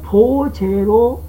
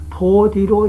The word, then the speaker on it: 菩提: 따라서 보제로 읽어야 할 것을 보디로 읽는다고 해도 잘못된 것이 아니다 라는 얘기를 하는 것입니다.